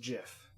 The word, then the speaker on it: GIF: came out and said it's pronounced Jiff with a J I do not agree